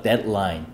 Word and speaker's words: deadline: 근데 데드라인 이렇게 R 발음하지 마시고요. Deadline, deadline, L 발음 잘 하시고요.